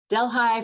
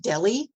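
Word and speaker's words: Delhi: just in Del high delh high for people who are not in Upstate New York is a town which one would think would be pronounced Deli like the city in India but it's not it's pronounced delh High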